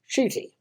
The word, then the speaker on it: Ncuti: His name is spelt Ncuti, but it's pronounced Ncuti.